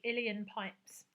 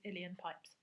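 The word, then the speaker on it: uilleann: the next instrument was the iliyan pipes I think that's how you say it I think a previous pupil who was Irish I think we managed to work out that it was iliyan pipes and so this is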